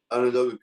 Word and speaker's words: Onondaga: You went to a community college, Onondaga, how do you pronounce it? Onondaga Community College, yeah.